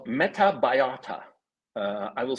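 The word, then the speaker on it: Metabiota: president's son was involved in a company called metabayata uh I will spell it for you m-e-t-a-b-i-o-t-a now metabayata had a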